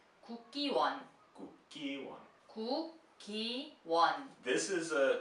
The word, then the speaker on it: Kukkiwon: Kukkiwon.